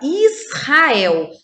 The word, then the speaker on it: Israel: representa um som forte o exemplo a palavra israel eu vou separar as sílabas dessa palavra vai ficar isso rafael então hahaha é forte porque vem depois da letra s e é a primeira letra da sílaba ra a complete as palavras